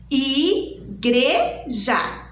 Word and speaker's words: igreja: Muitas crianças falam assim, igreja. Não, igreja, ok? Então vamos lá, ó. Igreja. Eu abri a minha boquinha 3 vezes, certo?